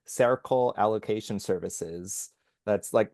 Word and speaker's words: Cercle: This new organization where Linda Tracy is the chief financial officer, it's called Circle Allocation Services. That's sounds like the word circle, but it's spelled CERCLE.